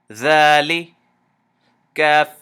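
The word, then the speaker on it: ذٰلِكَ: Dha, Lam Kasra Li, Dhali, Kaf Fatha Ka, Dhalika. So this Dha you have to extend to two movements.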